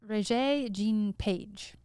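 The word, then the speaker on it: Regé-Jean Page: it how do you say his name again ray jean page yes okay so the duke we're going to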